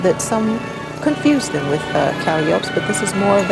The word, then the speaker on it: calliope: Here's the steam calliope wagon. I was about to say calliope, but the proper circus pronunciation is calliope. You know, I'm glad you brought that out because I used to say calliope all the time, and I was wrong.